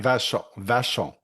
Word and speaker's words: Vachon: Is it pronounced Vachon? Vachon? How do you pronounce your surname? Vachon.